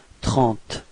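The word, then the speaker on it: trente: Alright, so keep in mind that final is not pronounced, it only gives you the possibility to be, or to pronounce the T coming before, so it's 30. Repeat.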